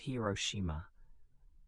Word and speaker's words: Hiroshima: On August 6th, 1945, an American aircraft dropped an atomic bomb on the city of Hiroshima, pronounced Hiroshima.